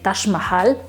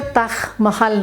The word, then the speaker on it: Taj Mahal: Con J, del Taj, pero no se pronuncia ni en persa, árabe, ni en hindi, ni en urdu, Taj, sino es Taj, ¿sale? Entonces el nombre correcto, la pronunciación correcta es el Taj Mahal, que como ustedes lo